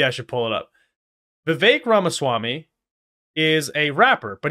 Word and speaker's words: Vivek: wrapped and said that his name is Vivek it rhymes with cake so that's why I